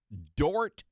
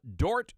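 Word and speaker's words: Dordt: is a Christian University Dort University that's d o r DT the D is silent uh Dort University which which is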